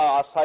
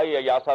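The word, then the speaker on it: Yasa: ज्यादा इंसाफ उसके बकायदा आसा यासा दो तरीके से प्रोनाउंस करते हैं उसके कवानी का मजमुआ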